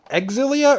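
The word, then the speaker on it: Xillia: well as Tales of Exilia or Zillia. I've heard it pronounced two different ways. I feel like when it first came out, people were saying Zillia, but now I've heard Exilia for a while.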